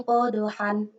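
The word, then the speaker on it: قَدْحًا: Nah, di sini tulisan tertulis adalah falmuriyati qadhan. Ketika waqaf, nah cara membacanya falmuriyati qadha. Hanya menjadi ha panjang, tidak lagi menjadi han.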